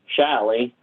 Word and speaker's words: Shalley: said um surely except she has a chinese accent so it came out shyly uh she meant surely like in shirley temple but um the immigration officer heard shally and so her first name is spelled s-h-a-l-l-e-y which is a little bit unusual but that's because the immigration officer heard shally and not shirley also when my mom